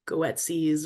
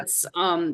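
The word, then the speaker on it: Goetze's: but like Gets, which in my head I always pronounce it like Goetsies or something weird, yeah. but it's I but it's understand that. Gets.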